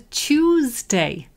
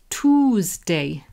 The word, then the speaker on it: Tuesday: really interesting pronunciation because lots of people say Tuesday, but the American transcript says Toosday. Toosday. So we say Tuesday and they say Toosday. And there's also Chewsday.